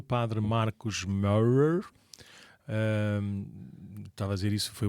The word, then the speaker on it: Marcos Maurer: E nós temos aqui na paróquia de Cascais o padre Marcos Maurer. Estava a dizer isso, foi o máximo de alemão que eu consegui com a pronúncia certa.